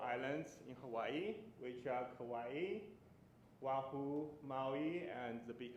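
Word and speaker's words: Kauai: So I learned is very easy because kawaii is so similar to Hawaii. Just replace H to K, right?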